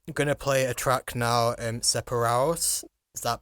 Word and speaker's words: Separados: So going back to your music, I'm gonna play a track now, Separados. Is that pronouncing it right? Separados.